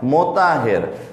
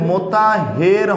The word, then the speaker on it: মোতাহের: যেমন আপনাদের যে প্রবন্ধ জীবনবৃক্ষ, ওটা লিখেছেন মোতাহের হোসেন চৌধুরী, নট মোতাহার, মোতাহের।